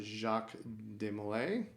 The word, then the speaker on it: Jacques de Molay: How do you pronounce this? The Jacques de Molay.